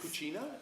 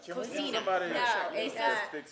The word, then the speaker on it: cocina: Cucina? Cocina. Sophia taught us how to say it. It's not Cocina, that's Italian. Yeah. Cocina is Spanish.